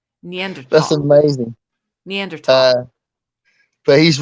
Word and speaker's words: Neanderthal: but Harland was right the H in Neanderthal is silent Neanderthal that's amazing neander but